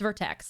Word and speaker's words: Vertex: Is it Vortex or Vertex? Is it Vertex? Oh, it's Vertex.